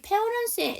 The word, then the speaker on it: parents: 그 다음에 여기 parents의 s는 복수형이 맞는데요. 보통 복수형은 특수 상황이 아닌 경우에는 생략하셔도 되는데요. 여기서는 발음을 꼭 하셔야 돼요.